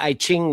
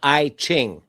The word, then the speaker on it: I Ching: The I Ching. It's It's pronounced It's pronounced I is the letter I.